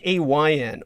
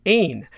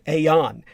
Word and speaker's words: aon: And this was intentional because in the Gaelic language, AON is pronounced more like AYN or AIN rather than Aeon.